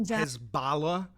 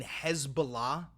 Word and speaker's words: Hezbollah: careful about what they reported because of what Hezbollah would do to their colleagues in Beirut. The fact that international Hezbala, you mean Hezbollah?